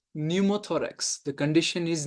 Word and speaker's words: pneumothorax: Then we will say pneumothorax. The condition is pneumothorax starting with the P. The P is silent here.